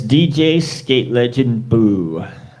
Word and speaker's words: DJ Skate Legend Boo: You got DJ Legendary Boost Skate Legendary. How you say it? It's DJ Skate Legend Boo.